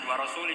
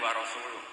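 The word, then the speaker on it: ورسوله: Allah itu terbebas, gak urusan dengan orang musyrik, wa rasulih juga gak ngurus Rasulnya. Kalau sama Rasul saja tidak ngurus, apalagi sama kita. Sama Sayyidina Ali dibenarkan yang benar bacanya itu wa rasuluh.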